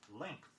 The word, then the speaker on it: length: Another everyday word, sometimes pronounced in a substandard fashion, is length. L-E-N-G-T-H. Be sure when you pronounce it that you get the nk sound in it. Length. Strength, S-T-R-E-N-G-T-H, also contains this sound.